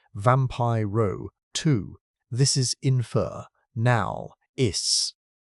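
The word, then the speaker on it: Vampyroteuthis: He named it vampire twius infernalists pronounced vampire row two.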